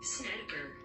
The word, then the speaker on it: Snedeker: Como é que é a pronúncia? Snedeker.